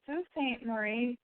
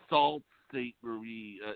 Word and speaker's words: Sault Ste. Marie: There's a Sault Ste. Marie, but Marie? Oh, Sault Ste. Marie. It's spelled SAULTSTE MARIE, Michigan.